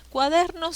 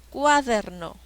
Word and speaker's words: cuaderno: celda vamos a ver cuadernos se divide en tres sílabas cua cuál es la sílaba que tiene la mayor fuerza de voz uader cuaderno cuaderno ya encontré la sílaba tónica cuaderno la sílaba der es la que tiene el acento y qué tipo de